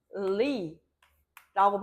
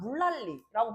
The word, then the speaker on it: 물난리: 물난리라고 발음되는 게 아니라 물랄리라고 발음돼. 그치? 물난리라고 발음하는 게 아니라 물랄리라고 발음될 거야.